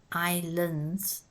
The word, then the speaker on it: Islands: I Bear real Islands the first s is silent Islands but pronounce the last